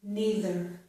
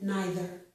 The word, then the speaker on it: neither: Also, with these two words, I pronounced this first vowel sound as E. Some people pronounce it as I, which is also correct.